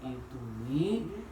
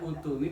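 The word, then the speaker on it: ائْتُونِي: Secara kaidah dibaca utuni, Pak Ahmad dan memang tak huruf ketiganya dhamma kan? Kecuali ayat ini dibacanya ituni bi kitabin min qabli hadza.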